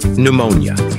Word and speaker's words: pneumonia: silent here's the trick the letter P is not pronounced at the beginning of many words using the combinations PS PT and PN p is not pronounced